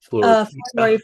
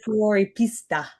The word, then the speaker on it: Fuoripista: Am I pronouncing this correct? Floripista. Fuoripista.